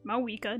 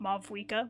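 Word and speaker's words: Mavuika: But I guess the Pyro Archon, Mawika, which I now know it's pronounced Mawika, not Mavwika, my bad.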